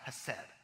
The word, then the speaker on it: hesed: In our scripture today that we see a Hebrew word called, pronounced, hesed, that means kindness or goodness, and when it's